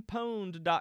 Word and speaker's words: Pwned: have I been poned it's spelled exact like have I been owned but with a P instead of an O um my friends in